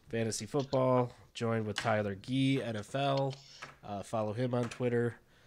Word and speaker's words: Ghee: You can find him on Twitter at Tyler Gee NFL, and Gee is spelled Ghee.